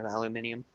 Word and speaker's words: aluminium: everybody's always like mother there's no I there I go uh actually there is it's just we drop the I like we got the